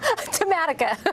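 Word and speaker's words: Tematica: You tell me how to pronounce that, Lenore. Tamatica. Tamatica. That's sorry.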